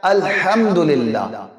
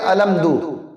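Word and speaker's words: الحمد لله: الحمدللہ۔ اب یہاں پر غلطی کیا کرتے ہیں کہ الحمد کی جگہ پڑھتے ہیں الحمدو، الحمدو، یعنی الف زبر آ، لام میم زبر لم، دال پیش دو، الحمدللہ الحمدللہ، یہ پڑھ رہے ہوتے ہیں۔ یہاں پر دو غلطیاں، ایک تو یہ کہ الحمدللہ پڑھنا تھا تو الحمدو پڑھا، اور دوسرا ہاں تو پڑھا ہی نہیں ہے، جبکہ صحیح یہ کہ الحمدللہ الحمدللہ الحمدللہ۔ تو ذرا اس کی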